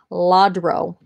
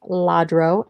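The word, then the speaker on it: Lladró: first item is this laudro i think i'm saying that right joyful event christian nativity scene jesus jesus porcelain figurine all right so here is the bottom i believe it's pronounced ladro l-l-a-d-r-o and anything that is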